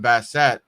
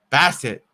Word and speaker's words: Bassitt: pitch got away from bassette bassett i keep saying his name wrong bass it counts gonna be two and two and chris about to throw pitch number 25.